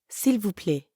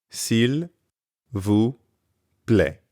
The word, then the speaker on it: s'il vous plaît: S'il vous plaît. But when speakers are in a hurry, that L sound at the end often gets left off.